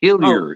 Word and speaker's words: Hillier: the pronunciation though is hiler even though I'm from Eastern and central Canada there is no um there is no French pronunciation uh well thank you